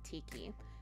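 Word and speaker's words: Tikki: off shugo kara is the name tiki it rhymes with mickey i rest my case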